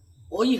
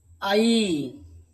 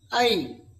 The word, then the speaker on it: ঐ: কিন্তু এর উচ্চারণটা ঐ হবে না। এই উচ্চারণটা হচ্ছে আই। এই বাংলায় উচ্চারণটা কিন্তু আমাদেরকে ঐ উচ্চারণ যে করেছি সেটা কিন্তু ত্রুটিপূর্ণ। তাই আমরা এর উচ্চারণ করব। আই আই সংস্কৃত তার সমান উচ্চারণ